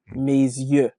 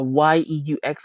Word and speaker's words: yeux: So Y-E-U-X on its own is yeux. The X is absolutely silent. Yeah. EU tends to be pronounced like like in the number two, Uh-huh. de, and the Y sounds like ye. So it's giving us ye.